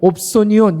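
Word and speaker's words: ὀψώνιον: 여러분 여기에서 말하는 삭이라는 말은 뭐냐면 옵소니온, 이렇게 발음을 하는데 이거는 군인이 받는 월급을 말하는 거예요.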